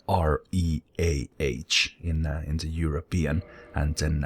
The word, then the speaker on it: Reah: But I guess it's still pronounced the same way as Reah, no matter how you do it.